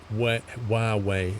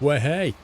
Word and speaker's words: Huawei: to move it over it's not pronounced wet Huawei it's pronounced where hey I'm sorry Dave I'm